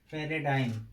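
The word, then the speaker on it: paradigm: तो जी का उच्चारण का पहला नियम, जब किसी वर्ड के अंत में जी एम आता है तो जी का उच्चारण नहीं किया जाता है। जैसे फ्लैम, फ्लैम माने कफ, पैराडाइम, पैराडाइम माने मिसाइल, एफिफ्राम माने उपसंहार।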